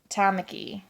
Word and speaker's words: Tamaki: I love how he can shift kind of like Tamaki. Tamaki. Tamaki. His name is Tamaki. I pronounce it Tamaki, but it's Tamaki.